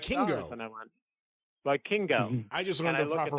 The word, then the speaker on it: Vikingo: And I went, Vikingo. I just learned the proper pronunciation myself, so that's why I'm correcting you.